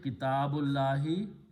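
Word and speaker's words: كتاب الله: So we pronounce Kitabullahi. Okay, the full correct pronunciation is Kitabullahi. If we stop, we can say Kitabullah. But if we continue reading, it will be Kitabullahi.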